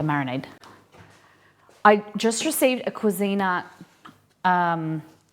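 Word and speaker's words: Cuisinart: I just received a Cuisina, and don't hate on my pronunciation. I say Cuisina, okay?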